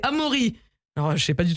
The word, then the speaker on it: Amaury: versaillen c'est vrai mais en réalité c'est amori alors je sais pas